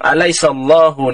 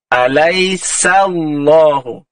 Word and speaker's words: أليس الله: Okay, dia bukan terus masuk alaisallah, dia tak tebal macam tu eh. Cara bacaannya alaisa, sa tu sebab sifat dia. Ha, kita kena senyum mulut dia eh. Sa. Alaisallah. Ha, dia tak terus masuk alaisallah, dia jadi huruf sad dah.